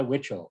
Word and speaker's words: Witschl: um yeah uh nikolai witchell it's um a bit of an odd last name because it doesn't have enough vowels for the number of syllables that it should have yeah but i like